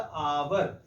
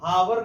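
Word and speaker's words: hour: उसी तरह से जैसे कि मैंने यहाँ पे लिखा था आवर, इसको हावर नहीं पढ़ते हैं, आवर पढ़ते हैं।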